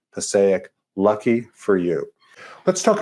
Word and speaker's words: Passaic: I hope you're doing well tonight, and I hope you enjoyed the fact that not much rhymes with mosaic other than Passaic.